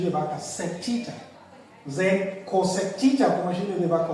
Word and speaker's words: cosec: So they are often written and pronounced as what? Sec theta, cosec theta, and cot theta.